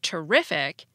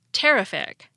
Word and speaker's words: terrific: the first syllable terrify but the adjective terrific has stress right before the I see we don't say teric in contrast other suffixes